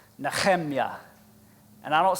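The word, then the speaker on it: נחמיה: Nehemiah's name in the Hebrew is pronounced Nechemya. And I don't say that to show off. I say it because it's fun to say. Nechemya, all right?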